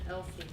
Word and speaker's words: EWLSE: So it's Empowering Women as Leaders in Systems Engineering, so we go by EWLSE, but we pronounce it Elsie. So we went with Elsie.